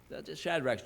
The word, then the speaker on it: Shadrach: Belteshazzar, and to Hananiah Shadrach, and to, or Shadrach's generally how we pronounce it, but if you look at the diacritical mark, it's Shadrach, and to Mishael of Meshach, and to Azariah of Abednego.